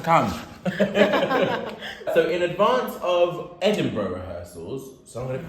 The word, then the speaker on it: Edinburgh: Edinburgh. I think it's because I always think there's an R after the B, but there isn't. I understand that, because you almost think the R is silent.